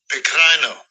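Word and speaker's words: πικραίνω: The word bitter in that verse, the Greek word, let Esau pronounce it. Strong's G 4087, Pecrino.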